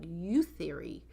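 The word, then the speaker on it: Youtheory: It's one word. You're supposed to say it like youth theory.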